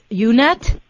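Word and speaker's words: Unett: And also, I noticed on your website it mentions Paul Unet.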